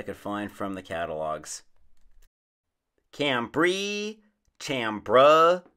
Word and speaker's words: chambray: find from the catalogs cambrie tambra chambray you can call it what you may it should be pronounced with a k sound because of the etymology the word canberra comes